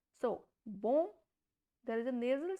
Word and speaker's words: bon: So, as I told you, if there is N consonant, the sound will be nasal. So, it is pronounced as bon from nasal sound.